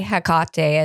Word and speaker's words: Hecate: Hecate is how I pronounce it in her Hellenistic form, her triple form.